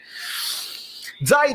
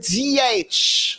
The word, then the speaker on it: Ziyech: Zayc gioca nel Zayc, questo è Ziyech, non lo so dire, Ziyech, è una pronuncia mia particolare, Zayc, quello del genere, questo come lo chiamiamo?